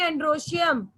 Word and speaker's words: Androecium: Androecium. Androecium. Yes. You have to choose. You should know the pronunciation also, na beta.